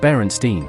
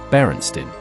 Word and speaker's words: Berenstain: Chances are you said Berenstein with an E. It was always spelled with an A, Berenstain.